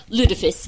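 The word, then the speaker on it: lutefisk: How do you pronounce it? Ludafisk.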